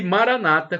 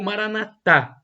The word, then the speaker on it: Maranata: o seu bem e Maranata como dizem os evangélicos ou protestantes com a tônica na penúltima sílaba ou Maranata Jesus católicos com a tônica na última sílaba mas não importa porque